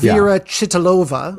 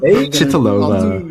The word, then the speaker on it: Věra Chytilová: Věra Chytilová. Věra Chytilová.